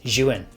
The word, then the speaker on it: Zhiyun: Just before we jump into it, I did actually have to Google to try and find out how to pronounce Zhiyun. It's Zhiyun.